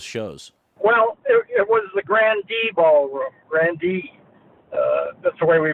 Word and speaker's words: Grande Ballroom: album it was recorded in Detroit at the Grand Ballroom across two days what do you recall about those shows well it was the Grande Ballroom Randy that's where we pronounced it the menu